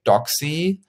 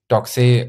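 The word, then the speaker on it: Doxee: 9.5 million euros to Doxy from Italy. Doxy, I pronounce it Doxy because I thought Italian and because it's written D-O-X-E-E.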